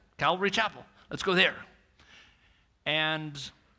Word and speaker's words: Calvary: Calvary, I gotta say it right, it's not horses. It's Calvary, which is the hill, like a skull. That's what Calvary is, the skull hill.